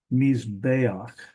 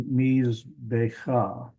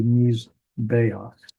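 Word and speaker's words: מִזְבֵּחַ: It looks like it ought to be Mizbecha. And that's not, this is a problem that they have with the printer with this book. They had a difficult time getting the furtive patak in the right place. That actually should be a furtive patak. It should be Mizbeach.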